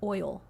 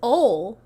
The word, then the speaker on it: oil: He was like, "It's ol." And I would be like, Oh. "Jacob, listen to what you're saying. It's not spelled O-L. It's spelled O-I-L. Oil."